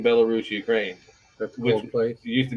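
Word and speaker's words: Belarus: it's bellus I just it's spelled like if you say it like it's spelled it's spelled bis oh but it's bellarus it's made in bellarus Ukraine that's place used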